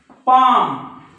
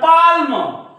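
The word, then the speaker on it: palm: right बाम बाम त्याच्यानंतर पाम त्याच्यानंतर right इकडे बघा कालम कोणी काही म्हणे याला कालम याला बालम याला पालम पण हे कालम नाही हे आहे काम कारण एम च्या वर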